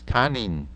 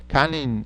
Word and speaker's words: kanin: how you pronounce those because one starts with or ends with an a n the other one ends with in okay uh there's a